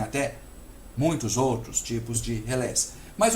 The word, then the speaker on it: relé: relé para vocês ok Alguns chamam também de relê por influência do termo relay inglês mas a influência francesa é realmente maior Então o que se chama oficialmente Como se pronuncia oficialmente é relé Ok então vamos lá